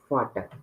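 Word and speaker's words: Vater: तो यहाँ पर फाटर, वी का प्रोनाउंस फा एंड ए का प्रोनाउंस आ। जैसे सपोज ए का बड़ा आ होता है ना, उस तरीके से फाटर, तो फादर, फाटर, ठीक है?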